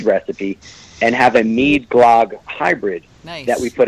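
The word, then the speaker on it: glögg: Her family is from Sweden, and she's made Glog, or what they sometimes pronounce as Glurg.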